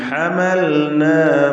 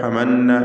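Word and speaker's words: حملنا: വമിമ്മൻ ഹമൽനാ മഅ നൂഹ്, ഹമൽന ലാമു സാക്കിന ഇൽഹാർ ചെയ്ത് വ്യക്തമാക്കുക. ഹമന്ന എന്ന് അവ്യക്തമായി പോകരുത്.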